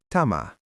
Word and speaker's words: tämä: Tama.